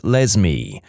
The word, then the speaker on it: Lesme: My mum is a public school librarian, and the cringiest name she's encountered so far is a girl named Lesme, pronounced like Leslie but with an M.